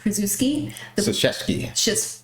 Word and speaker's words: Krzyzewski: of legendary coach Mike Krzyzewski. Thank you. You know what? That's Polish, and I should have known. I just read it phonetically.